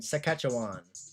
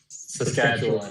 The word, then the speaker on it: Saskatchewan: Sakatchawan Saskatchewan. Yeah. Oh, Saskatchewan. Yo, listening to Americans say Canadian provinces is funny, actually.